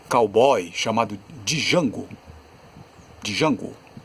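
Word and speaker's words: Django: chamado de jango de jango veja que ali a pronúncia já ali já tem um som de o Jota já faz o som DJ DG e fazer som de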